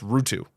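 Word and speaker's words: Räty: R A T Y last name is pronounced Rutu.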